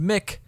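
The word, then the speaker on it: MCIK: Hey, it's that boy, M.C.I.K, because apparently M.C.I.K is pronounced Mick.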